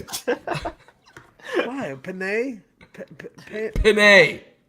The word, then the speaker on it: Penei: Penei, like a bidet. Like a bidet. You're gonna. Penei? How do you say it? I thought it was Penny.